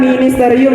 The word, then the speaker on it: Ministerium: Dibacanya ministerium ya, atau teman-teman mungkin akrab disapanya divisi atau departemen seperti itu.